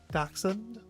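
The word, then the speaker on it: Dachshund: It's pronounced Dax Daxund. I guess I mean I'm not German. It's a German word. I'm not German. So I just call it dashund.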